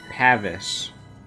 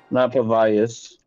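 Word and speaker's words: Pavise: Pavice. I don't know. Okay, all you need is Pavice. It's pronounced Pavis. Yeah, it is not Pavius.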